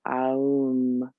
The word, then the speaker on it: Aum: And we'll do 3 ohms, but I want to enunciate each of the syllables. The ah, oo, So aum.